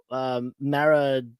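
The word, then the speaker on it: Maridueña: I think it's Sholo Maradueva. I hope I'm pronouncing that right. Maraduena? Maraduena.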